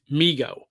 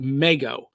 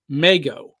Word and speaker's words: Mego: l e g o if you pronounce that Lego then you have to pronounce that mego so that was my assumption now in recent years people have been pronouncing it Migo so yes I've pronounced